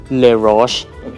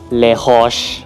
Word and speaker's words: Les Roches: ว่า ยัง ไง ครับ อ่า สำเนียง อังกฤษ ก็ จะ เป็น เลช แล้ว ก็ สำเนียง ฝรั่งเศส ก็ จะ เป็น เลช ตอน นี้ ให้ น้อง